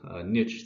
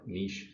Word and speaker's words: niche: describing this thing called niche theory or niche theory i i don't care how you say it you can say either way if you've taken an